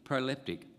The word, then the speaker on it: proleptic: p t i c not prophetic proleptic not septic but proleptic that's my word for